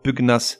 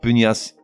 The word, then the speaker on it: pugnace: la presse par exemple ou encore pugnas c'est-à-dire quelqu'un ne combattif et non pas pugnace après tout on dit